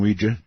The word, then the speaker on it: Ouija: it because I'm quite aware of the correct pronunciation is Ouija Ouija board I I will not have anything